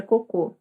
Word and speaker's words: cocô: Enfim, uma é coco, a outra é cocô.